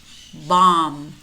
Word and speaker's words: bomb: Notice how in many of these words we have MB clusters. And in these words, normally the B is silent. We only pronounce the M.